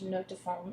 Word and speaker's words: note de fond: Note de fond is how you say base notes in French.